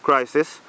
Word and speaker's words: Krisis: I'm a part of the group Crisis, which is under 24/7 music production and can boost to 7 figures.